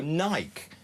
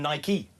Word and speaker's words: Nike: with bike or does it rhyme with spiky?" And click and ticked the right one. He he ticked spiky and sent it back to him.